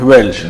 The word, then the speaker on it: Welch: realidad es alemán, es Welch. Welch. La W como B.